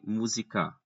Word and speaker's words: música: Ninguém diz música, nem música. Não, música. É na antepenúltima sílaba a tonicidade.